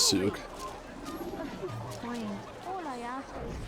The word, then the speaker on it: souk: I'm poor and So it is pronounced Souk.